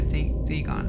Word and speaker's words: Dagon: it's uh oh now they give me the pronunciation so to speak right they gone right was the main deity of the philistines